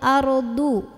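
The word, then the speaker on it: أرض: Hati-hati tertukar dengan huruf dal jadi ardu. Ini ardu. Bu tebal.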